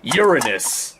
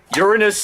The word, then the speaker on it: Uranus: pronounced it nowadays as Uranus to try and not be associated with that joke. But here's a weird thing. Uranus doesn't sound any better in my opinion. Uranus sounds like the word urine, which, yeah.